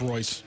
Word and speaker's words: Reus: Somebody says it's pronounced Royce. I'm sorry. I've always pronounced it Royce.